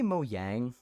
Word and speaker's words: Mojang: What's the proper way to pronounce Mojang? They say Mojang because it's literally like a Swedish word for like, I think it's like gadget or something, like the Swedish word for gadget or device or something, Mojang.